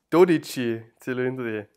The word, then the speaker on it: Dodici Cilindri: Insbesondere die Ankündigung seines Nachfolgers des Dodici Cilindri, wie spricht man dieses Auto aus? Dodici Cilindri.